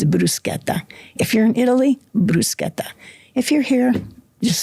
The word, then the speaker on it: bruschetta: The food is a safe topic, except for the word bruschetta.